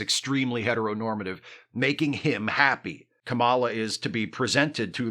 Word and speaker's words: Kamala: and yes that is the correct way to pronounce it Cala is how you pronounce the name of FKA